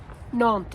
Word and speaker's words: Nantes: Now, Nantes is the proper pronunciation, of course.